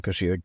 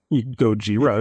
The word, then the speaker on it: Gojira: Uh, um, Koshira, Godzilla. I mean, you were technically almost correct. Gojira is one way to pronounce it.